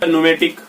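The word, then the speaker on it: pneumatic: न्यूमेटिक, इसमें भी जो है पी के बाद एन आया, इसलिए ये एयर से रिलेट होता है, ठीक है।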